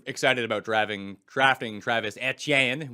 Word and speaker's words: Etienne: about driving drafting travis etienne which i still pronounce with a french accent by the way as it should be pronounced because he's from louisiana so that would only